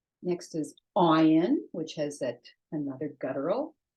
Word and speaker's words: ayin: Okay, ayin, silent. Okay, they have names, but the letters themselves are silent. Aleph is silent, ayin is silent.